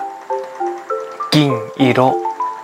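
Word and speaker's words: 銀色: จุด สังเกต นะ ครับ ว่า สิ เงิน กับ สี ทอง มี การ ออก เสียง ที่ คล้าย ๆ กัน นะ ครับ ต่าง กัน ที่ คำ ขึ้น ต้น นะ ครับ ชิง อิโระ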